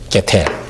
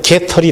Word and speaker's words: 게텔: GTT, 게텔. 요거는 이제 게텔이라는 사람이 만든 방법이에요. 그래서 게텔을 조금 발음 잘못하면 이제 게털이 되죠.